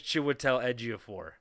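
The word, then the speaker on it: Chiwetel Ejiofor: You couldn't be like because it's like a J. It's like a Wian J. It's like Giannis in the NBA.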